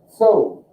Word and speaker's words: Zoo: And Z has, I'm going to say it's almost pronounced like there's a T in front of it.